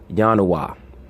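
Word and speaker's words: ianua: It comes from the Roman word Ionoua, or Yanoua, meaning the door. Right? Yanoua or Yanoway. Yanoway is the plural, doors. Remember, there was no J in the ancient languages.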